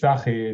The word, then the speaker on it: Sahi: agreed with what how Sai, I think is you correctly named to pronounce it. Yeah, it's Sahi. It's a Hebrew name, but Sahi is okay.